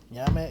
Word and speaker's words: ñame: Ñame is a Name, and it's that simple. It's almost like name, but it's pronounced ñame.